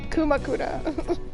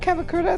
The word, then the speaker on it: Kumakura: Akuma Kumakura. I've been saying it wrong this whole time. It's not Kamakura. It's Kumakura.